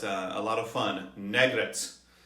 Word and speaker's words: Negrette: a lot of fun negret or maybe nagrit or negrit but negret is how i'm going to pronounce it this time around thank you for subscribing